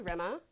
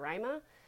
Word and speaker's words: Rema: is rema and well so my name is lithuanian and you pronounce it most people just think that my name's rima or ryma but it's not and if you can roll your r that's the right way to say it but i usually just